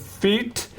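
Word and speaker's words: Fiete: Is it feet? F I E T E from Gavilla. Yes. Center feet.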